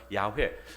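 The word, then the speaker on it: 야훼: 됩니다 그래서 우리 대부분은 여호와로 이렇게 하지만 원래의 발음은 야회 어 지금 성경 필사할 때 야회 나오죠 그게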